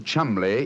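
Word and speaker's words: Cholmondeley: Being an American, he had no reason to know that the name Chuml is in no way pronounced the way it is spelled.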